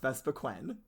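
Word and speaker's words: Vespiquen: no it does not second of all is pronounced vesa quen again there's only one e because she's she's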